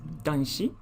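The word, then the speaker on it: 男子: man and the country for child and it's pronounced as dunshi and it means young man or boy oh it's not tanchi but danchi i have to add the tent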